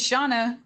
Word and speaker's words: Shana: you for asking it's shawna yeah am i hearing it wrong it's shauna that's what they're saying right